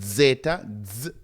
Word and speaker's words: zeta: So you have the first one is zeta, zeta. Remember, you have a little DZ sound at the beginning, zeta.